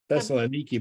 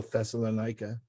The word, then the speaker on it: Thessaloniki: Thessaloniki, but it used to be in the Bible, Thessalonica.